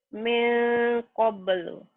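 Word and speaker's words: مِن قَبْلُ: Nah, ini bila perhatikanlah, hati-hati bila nun mati atau tanwin bertemu dengan kaf dan kop, engnya banget. Engnya banget. Ya.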